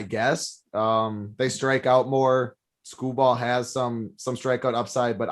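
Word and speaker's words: Skubal: I'd rather go and play Scooball. I don't know if that's how you pronounce his name. Tyreek, how is it, DC? Scooble.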